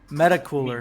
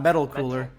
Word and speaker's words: Metal Cooler: wrong for a while I I called him meta meta cooler and not metal cooler is a metal cooler meta metal it's metal it's a metal matte so